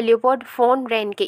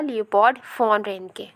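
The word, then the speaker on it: Leopold von Ranke: तो यहाँ पर लियोपोल्ड फोन रेनके, यहाँ पर वी जो है, यहाँ पर वी है, लेकिन जर्मनी में वी को F के तरह प्रोनाउंस किया जाता है, तो इसलिए यहाँ पर होगा लियोपोल्ड फोन रेनके, राइट।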